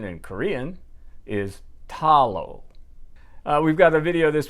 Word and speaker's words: Ddalo: Well, the computer says you pronounce the D's as if it was a T, as in Tom. So the correct pronunciation in Korean is Ddalo.